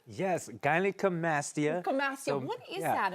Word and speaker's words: gynecomastia: Something that I don't know if I can pronounce, but it's gynecomastia. Yes, gynecomastia.